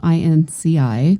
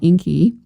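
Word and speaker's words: İnci: um it's it's obviously it's spelled very differently it's spelled inci which in the english language looks like inky so uh when when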